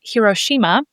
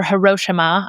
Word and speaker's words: Hiroshima: And the second place I want to talk about is Hiroshima or Hiroshima. I know it's pronounced differently by different people, but in Japan, we're basically going to every port that exists in Japan.